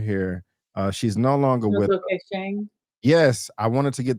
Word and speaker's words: Ntozake Shange: Ntozake Shange. Yes, I wanted to get the pronunciation right. Ntozake Shange.